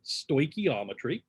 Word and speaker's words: stoichiometry: saying that at first but that's how you pronounce it stoichiometry and we're going to be using sort of